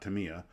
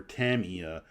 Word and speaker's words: Tamiya: and I've been told it's pronounced Tamia not Tamiya um I've been told